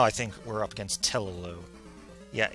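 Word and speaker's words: Tellu: Okay, now I think we're up against Telelu. Yeah, I pronounce it with 2 U's, because, again, I...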